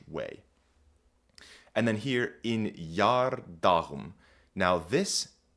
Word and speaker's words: geardagum: You might notice that this isn't pronounced yar, as we might expect with an EA. That's because this E is sort of just a marker. It's here to indicate that this G is making the Y sound and not the G sound.